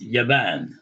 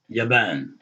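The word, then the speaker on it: يابان: out about other places, then they pronounced it with an Arabicized form of the word. So here, Japan is Yaban. Yaban.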